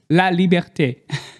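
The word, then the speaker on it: La Liberté: And La Libert, how do you pronounce that? Liberte. La Liberte.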